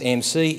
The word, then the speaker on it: AMSI: AMSI is pronounced AMC, is the Australian Indigenous Minority Supplier Council.